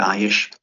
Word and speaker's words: Aish: I don't know if that's the right way to pronounce the company name, if that's accurate, Aish.